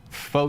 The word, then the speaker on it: pho: Pho sure, pho ever, pho true, pho you, etc. But in reality, the word is actually pronounced pho, as in farted.